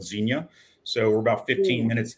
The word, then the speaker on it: Xenia: So in the Midwest, tell me the name of the city because I will mispronounce it. So we're in a little town, a little suburb of Dayton, Ohio, called Xenia.